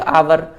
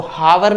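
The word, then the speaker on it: hour: तो इसको आपको ही स्टडी ब्लैंक आवर, पहली बात तो हमें इसकी प्रोनाउंसिएशन ठीक क्लियर होना चाहिए। इसको हावर नहीं पढ़ते, यदि हावर पढ़ोगे तो आप इसमें ए भर दोगे। इसको पढ़ते हैं आवर।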